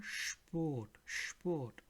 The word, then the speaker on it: Sport: So wherever you see SP written, it will sound like again SCHP. For example, der Sport in English. Thus, der Sport.